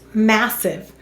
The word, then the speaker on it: massive: syllable silent final e why do we have a silent ian massive that's right english words do not end in v therefore add an e let's read it massive